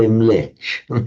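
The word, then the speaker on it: म्लेच्छ: In fact, in Sanskrit, it is mlecha. and it's sometimes quite amusing. You can slightly tease the Hindus, tease the Brahmins, because mlecha in modern northern India it's pronounced just mlech.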